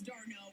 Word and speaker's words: d'Arnaud: Well, earlier this weekend, Travis d'Arnaud was traded from the Dodgers to the Rays, and he had a bit of a crash. D'Arnaud. That's how you pronounce it.